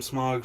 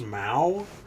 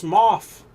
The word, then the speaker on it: Smough: I'd be like, I'm Smog from fucking Dark Souls 1. I'm Smog and they're like, that's a dragon. It's pronounced Smough. And I'm like, go fuck yourself. Jesse. And then somebody else, it's Smoff.